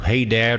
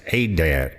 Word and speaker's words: Adad: Hadad or Adad, the Akkadian pronounced Adad or Ishkur.